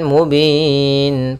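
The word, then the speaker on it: مبين: Kemudian mubin pada lafal bin ada mad alit lukun. Yaitu bacaan yang terjadi ketika kita akhir atau kita wakaf di akhir bacaan yang mana sebelum huruf akhirnya ada huruf mad.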